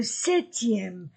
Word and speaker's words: sept: semaine dimanche et le 7e 7e je ne prononce pas la lettre P dimanche et le 7e